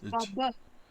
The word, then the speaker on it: Bob: It's not Bob. It's Baba. Baba. It's Baba. Much like Baba Yaga, only it's Baba.